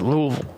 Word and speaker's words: Louisville: It's kind of in between you and downtown Louisville, actually. Louisville. I know, Rosa. It's Louisville.